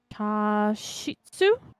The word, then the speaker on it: chashitsu: I was going to spell it for you. C H A S H I T S U.